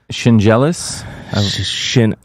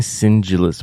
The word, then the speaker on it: Shingelis: Yeah, Nick Shingelis. I kept saying Singelis, but it's because I'm just weird with pronunciations.